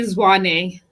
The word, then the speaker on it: Zwane: out very well um i said it's actually zwani yeah my full name